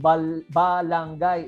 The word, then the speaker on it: balanghay: If Mazawa is Limasawa, therefore balanghay pronounced balangay is a Limasawa word.